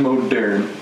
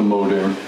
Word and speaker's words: Moderne: So this is the Gibson Moderne. Yeah, that's how you say it, the Moderne. Not the Modern, the Moderne.